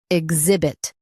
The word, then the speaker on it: exhibit: Now read the syllables shown on the screen naturally. Ig. Zib. It. Exhibit. Emphasize zib and keep it light.